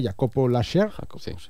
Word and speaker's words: Jacobo Laser: Bueno, Diego, y para acabar tenemos una pareja el viernes, Bárbara Zangel y no sé cómo se pronuncia, Jacobo Laser. Correcto.